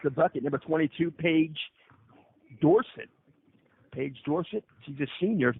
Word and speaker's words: Dorsett: here on the pronunciation is it Dorsett or Dorsett Northland like Tony Tony Dorsett thank you so that's